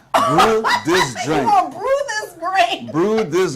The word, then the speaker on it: Brutus: how is it in English BR this like Brew this Brew this Brew this grain Brew this grain brew and